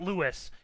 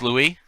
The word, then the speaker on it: Louis: put over it's not lewis it's not lewis so it's louis it's louise luis luis guys did you